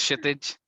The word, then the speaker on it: Kshitij: So same goes for Kshitij. The name is Kshitij, K is silent.